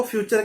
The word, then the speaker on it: future: जब भी टी के साथ यू आता है तो ज्यादातर TURE, पहले समझो इस चीज को, TURE इसको हम चर कर देते हैं इंग्लिश में।